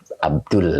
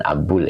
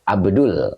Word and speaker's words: Abdul: Jadi Abdul ya, bukan Abul ya. Abdul.